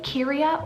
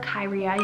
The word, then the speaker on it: Kyria: Moving on to the name Kyria or Kyria, you can spell it either way, K-Y-R-I-A.